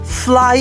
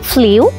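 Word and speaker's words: flew: ফ্লিউ। ইয়া, আমরা বাংলাদেশিরা তাই বলি, আসলে উচ্চারণ হবে ফ্লু। এবং ভাইরাল ফিভার থেকে ফ্লু, ফ্লাই এর পাস্ট টেন্স ও ফ্লু।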